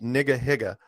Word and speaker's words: Nigahiga: His channel is called Nigga Higa. Oh. And it's spelled Nigahiga, and he's not a gangster rap guy.